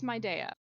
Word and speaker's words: Mid'eia: And in my pure naming fashion, it's kind of just two pieces, two syllables that I like smushed together with an apostrophe in the middle. So Love it. my country is Midea.